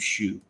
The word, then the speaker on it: Xu: I guess you pronounce that is XU Shu.